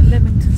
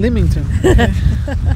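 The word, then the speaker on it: Lymington: keep saying West sorry it's not lemington Spar it's lington Limington okay um before anyone says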